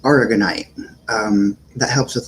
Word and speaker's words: aragonite: one um and then it's a white it's pronounced aragonite um that helps with like bone issues nerve